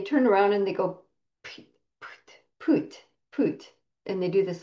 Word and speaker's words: pyt: around and they go "Put, put, put," and they do this little hand gesture, put. So this is a Danish word that PYT are the letters, but the it's pronounced like put, put.